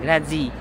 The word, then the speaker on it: Grazie: Grazia. Parang ganun nila pinapronounce, no? Parang may T, pero letter Z-I-E dapat. Akala ko Grazie. Parang Grazia. Parang nasa between siya ng Z tsaka Zia. Grazie. Grazie. Ganon, Grazie. Sa Spain, gracias, di ba?